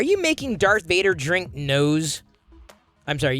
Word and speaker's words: NOS: Are you making Darth Vader drink nose? I'm sorry, you cannot convince me that it's pronounced Nas. It's nose, dude.